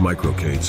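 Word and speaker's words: MicroK8s: kubernets environments such as micro K8 pronounced micro Kates and sold serviced by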